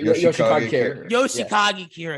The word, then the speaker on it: Yoshikage Kira: It's part 4, and because with Yoshigiri, how you pronounce the name? Kira. Yoshikage Kira.